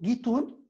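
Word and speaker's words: guitoune: Donc le mot gitoun, le qaf de l'arabe est prononcé ga, donc gitoun, mais est prononcé gitoun.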